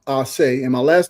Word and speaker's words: Ace: It's actually pronounced Aay and my last name is, but Aay kind of turns to something else.